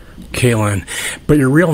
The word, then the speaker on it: Kaelin: A lot of people get that last name wrong. They say Caitlin, and it just makes me mad. It's Kaelin. Kaelin, but your real name is Brian.